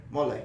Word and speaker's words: mole: Mole. I said it right? Yeah, mole.